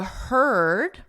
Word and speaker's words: heard: Now they're saying the heard, right here, heard, is the same vowel as bird, It's that sound.